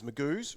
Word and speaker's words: Magoo's: Magoo's rhymes with twos because twos is what you call the seconds.